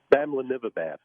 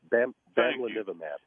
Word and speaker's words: Bamlanivimab: confused with this other thing that I can't pronounce. Bamlanivimab. Thank you. Bamlanivimab.